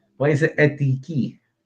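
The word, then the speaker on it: ἠθική: Tell us how to pronounce it, please, Elena. Ethike.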